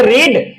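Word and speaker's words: read: वाले को पढ़ना है रीड लेकिन सेकंड फॉर्म में पढ़ना है रेड और थर्ड फॉर्म में पढ़ना है रेड ये दोनों फॉर्म क्या पढ़े जाएंगे सेकंड और थर्ड वालों को रेड पढ़ा जाएगा भले स्पेलिंग सेम है आर ई ए डी ही है लेकिन पढ़ेंगे क्या रेड पढ़ेंगे अच्छा अब यहां पे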